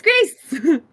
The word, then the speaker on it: Grayce: Gaming with Grace, and their name is spelled Grayce. Mm-hmm. And I was like, that's great. Mm-hmm. It's Grace. Mm-hmm.